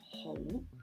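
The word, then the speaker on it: 去: And how do you say go? It's ho, ho in the mid-tone. So it's hanging in the air again, a mid-tone.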